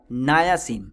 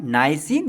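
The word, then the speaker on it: niacin: का क्या नाम है नाया सन ठीक b3 का क्या नाम है नाइसिन या नाया सन जो भी आप प्रोनाउंस कर सके ठीक इसकी डेफिसिट अब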